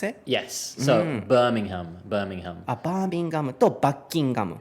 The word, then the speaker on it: Birmingham: So you were talking about how to pronounce it? Yes. So Birmingham. Birmingham とバッキンガム。